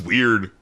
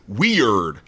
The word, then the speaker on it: Wierd: It would just be the emphasis, right? It would be Carissa's weird. Oh! You see, yes. Okay. Weird, like a fjord.